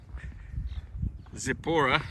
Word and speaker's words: Zippori: Zippori.